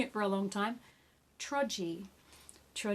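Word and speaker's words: Towradgi: just never know T OWR ad GI not Tower Reggie which is how I've been pronouncing it for a long time trudge E TRO G Beach hotel and I hope you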